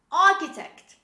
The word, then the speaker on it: architect: kales say with me chaos the next word architect architect don't say architect this is architect architect